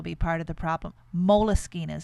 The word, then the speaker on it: Moleskine: part of the problem moleskine is that how you say it moleskin with an extra e all writers seem to